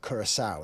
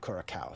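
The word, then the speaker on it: Curaçao: So he didn't learn that that little sadia on the sea makes a soft C and it makes it Kurasau instead of Kuraka.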